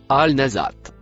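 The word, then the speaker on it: النازعات: La première lettre en noir c'est la conjonction et le mot en rouge se prononce Al nazat.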